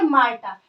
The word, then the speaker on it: Martha: इसका नाम क्या है माटा प्रोनाउंस कैसे करेंगे मार्ता जिसके पोएट कौन है